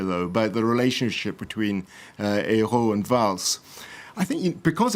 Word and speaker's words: Ayrault: to avoid any embarrassment, you should call him Mr. Ayrault with an L and the T that you never pronounce in French, but so you avoid the problem.